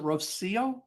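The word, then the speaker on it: Rocío: Rosio is I has probably butchered that. Hi. How do you pronounce your name? Am I right? Is it Rosio? You actually said it right, so that's good.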